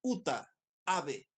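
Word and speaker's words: Uta Abe: muy fácil es japonesa se escribe ut a Uta ave eh como ave como pájaro pero con b larga y entonces cuando ella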